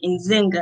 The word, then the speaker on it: Nzinga: from rochester new york he said in zynga i said yes he was like okay